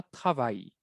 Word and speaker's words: travailles: Travaille. La ES no suena, pero acuérdense de la terminación ES, como en español trabajas.